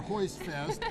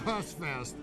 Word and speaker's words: Hostfest: That's not a Hostfest or Hoistfest. It's Hostfest. Got it.